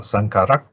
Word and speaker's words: saṅkhārā: of aggregates they call sankara kanda sankara the aggregate of the formations and normally if it's in this kind of what you call compound the last vowel is short some is added in